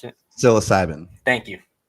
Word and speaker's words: psilocybin: i can't pronounce the word you can you pronounce it psilocybin thank you so who would have thought